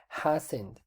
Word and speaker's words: hasn't: oídos aquí recordemos que si usted no quiere decir hash no te puede hacer una abreviación que sería hasn't está que es sombreando aquí jasen es la correcta pronunciación listo después decir hijas